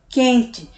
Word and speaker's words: quente: A palavra quente é a mesma coisa, QU, sendo que esse U nem é pronunciado, ele se funde, ele se junta com a letra Q e a gente já pula logo para o E, quente.